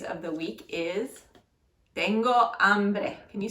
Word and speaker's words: hambre: the week, is tengo hambre. Can you say tengo hambre? Tengo hambre. Very good. Notice the H is silent when it's at the very beginning of a word.